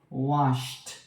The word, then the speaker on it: washed: The sound is sh. So then we have ed. So we have voiceless sound, which is sh. So then we will pronounce this word ta, right? Like washed.